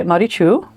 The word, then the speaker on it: Maritxu: The suffix TXU is pronounced Chu and that is a Basque cultural um suffix of affection. So she goes by Marichu.